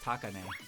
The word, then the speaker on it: Takane: I actually had that problem with Takane as well, which I think her name is pronounced Takane, but I would call her Takane, like ta. There'd be more emphasis on ta than but instead of taka.